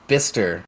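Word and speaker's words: Bicester: That's it's pronounced Bister where he was.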